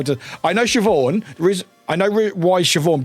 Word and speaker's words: Siobhan: Yeah, Shiov.